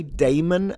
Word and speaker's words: Damon: Every time I pronounce this name, by the way, Damon, I feel like I'm saying demon with a southern accent from America, like somewhere in Alabama or Tennessee.